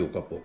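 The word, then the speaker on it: Oyapock: कंड के दरया का नाम है उ कापक ओ कापक उस दरया का नाम नाम है कैसे उसको स्पेलिंग करूं ओ वाई ए पी ओ सी के उसका दरिया का नाम भी ओका पोक है ओका पोक वो ब्राजील के साइड पे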